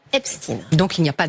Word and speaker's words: Epstein: Pourquoi on prononce Epstein ? Tout simplement Magali. parce que c'est comme ça que lui se faisait appeler et c'est comme ça que les médias américains, on a vraiment écouté, on s'est posé nous aussi cette question, les médias américain quand ils parlent de l'affaire, ils parlent de l'affaire epstine.